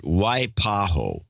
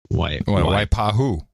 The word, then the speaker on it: Waipahu: with my town's name pronounce it Waipahu Waipahu Waipahu Waipahu right Waipahu why why because I like that why I like the pahu usually okay that includes